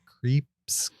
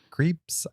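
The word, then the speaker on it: Krieps: lewis leslie manville and vicky creeps creeps i believe is how you say it and it's uh lesser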